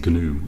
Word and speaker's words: GNU: The G is actually pronounced in GNU, I believe.